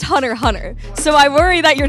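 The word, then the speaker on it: Hunter × Hunter: what's your favorite anime hunterx Hunter okay so here's where the concern is MHM it's pronounced Hunter Hunter so I worry that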